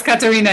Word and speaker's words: Katharina: Katharina. It's Katarina.